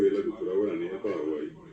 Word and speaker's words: Paraguay: Cuando hoy decimos Uruguay, correctamente pronunciado así como Paraguay, no es Paraguay, sino Paraguay. Que la gente hasta ahora dice Jata Paraguay.